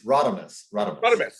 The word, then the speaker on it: Radames: do before which is talk about my pronunciation of my name okay so just for the record it's okay it's it's a difficult one so no no problem it's ratherness okay but you got the